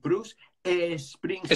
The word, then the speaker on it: Bruce Springsteen: aquí te quiere decir Bruce Springsteen. Sprinting, yeah. Pero si coges el sonido Bruce, aunque se acabe con CE, ¿cuál es el sonido? Bruce. Bruce Springsteen.